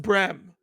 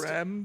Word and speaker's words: Bremen: And it's pronounced Brem. No, That it's is not. official. All It's 13 not. viewers It's not. right now. No, Depends it's on where Bremen. you're from. It's a regional It is. pronunciation. Thank you, now. Thank you. Yeah, now. it's a regional, just like America and America. Just like Breme, Bream, Brem, they all are valid.